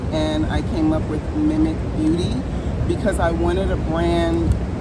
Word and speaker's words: Mimik.beauty: The correct way to pronounce the brand is Mimikbeauty. My name is Mimikamara, and I just took Mimi and the last name, start over.